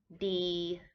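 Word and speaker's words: ดี: also uh in thailand do you like it chop i like it to be good d d is a middle tone to be good d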